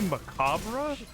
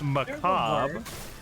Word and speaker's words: macabre: Did you just say macabre? It's macabre. The R is silent for some reason.